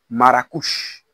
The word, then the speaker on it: Marrakech: l'appelaient Madin Maroc maruk Maros la prononciation espagnole du nom de la ville de Marrakech plus précisément maracouche vous devez noter ici